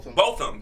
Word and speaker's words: Botham: Is it Botham or Botham? Botham.